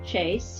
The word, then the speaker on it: Chai: a website and it is my name chase CH a I just like the teeb pronounce different chicom thank you my dear